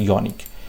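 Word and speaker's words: unique: যাবে বন্ধুরা, কারণ এখানে ইউনিকটা কিন্তু ওয়াইয়ের মতো উচ্চারণ হচ্ছে, ইউনিক, ওয়াইয়ের মতো উচ্চারণ হচ্ছে, ইউনিক, ওকে, ইউনিক।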